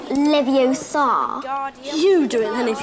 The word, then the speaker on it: Leviosa: It's Leviosa, not Leviosa. You do it then if you're so clever. Go on. Wingardium Leviosa.